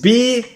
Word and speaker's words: Beelzebub: This might be an annoying message to some people, but it's about how to pronounce him. It's BEELZEBUB. The question is, how long are the spaces, right? Like, it's like BEELZEBUB.